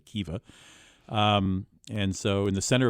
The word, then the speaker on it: Khiva: historic Silk Road town called Hiva. It's spelled Khiva, Kiva.